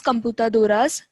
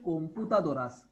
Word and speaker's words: computadoras: So computadoras, las computadoras, estas computadoras, esas computadoras. Just say computadoras. Computadoras you are saying, but give justice to that O. That will be always pronounced as O. It will never be pronounced as A.